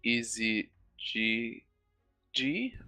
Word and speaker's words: EZGG: So Yeah, yeah, it's gonna be Pantheon top lane because there's a ghost on Easy G, I believe that's how he wants his name pronounced, EZGG, but so it doesn't look like it.